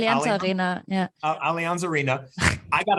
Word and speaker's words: Allianz Arena: Allianz Arena, and am I pronouncing that correct? Right, Allianz Arena, yeah.